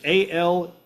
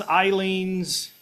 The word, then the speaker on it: Aleene's: It is ALEENE''S. ALEE. Yep. I've heard it pronounced Aleene's, Eileen's, 2 or 3 different ways, but yeah, basically this is the stuff.